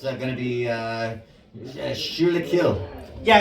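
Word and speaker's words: Schuylkill: Uh can you uh pronounce that? Yeah. Yeah. It's going to be uh Shirill. Yeah, it's school kill.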